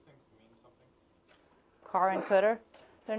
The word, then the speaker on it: CDR: and this cell here this is known as the cter CDR car and cter just a common pronunciation for it so let's say given